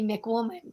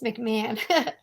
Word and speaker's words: McMahon: last name is complicated there's a silent h so it's big man like i always say it should be mick woman but it's mcmahon mcmahon but you can call